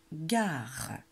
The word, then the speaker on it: gare: La gare. La, espace, gare. Et il y a un E muet à la fin de gare.